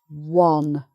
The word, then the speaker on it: wan: But when we come to this, it's one. So it's the same vowel sound as wad, one.